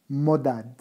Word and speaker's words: Mohdad: Mardad, c'est devenu Modad, avec un H muet.